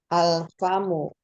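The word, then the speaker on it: الفم: qamariah Contohnya apa umahad bisa dibaca bersama-sama alfamu alfamu ya alfamu Masyaallah Apa artinya alfamu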